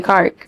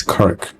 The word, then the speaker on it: Kirk: It's Charlie Clark. You said it right. Car. Charlie Clark. It's Kirk.